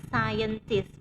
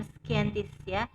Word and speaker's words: scientist: di rumah mereka masing-masing Scientist ini bacanya Scientist bukan scan Tisya Scientist uses the internet